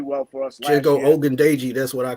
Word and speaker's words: Ogundeji: Ogundeji, that's what I call him. Ogundeji, there we go. Yeah, that's it. Yeah, Ogundeji, I think he can definitely benefit from this too.